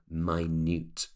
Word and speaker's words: minute: just like the word minute but actually we pronounce it as minute so it can be size material made of